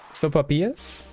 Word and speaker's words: sopapillas: Sopapillas? I probably said it too much like soap, but sopapillas.